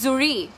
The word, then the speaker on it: জরি: আচ্ছা, ইটস জুরি, pronunciation কিন্তু সবার ডিফারেন্ট থাকে। অনেকে কল করবে যে জরি বলবে, অনেকে বলবে জুরি, সো আই am calling it জুরি, the actual pronunciation, যেটা অ্যাকচুয়াল প্রোনাউন্সিয়েশন সেটাই বলছি আমি।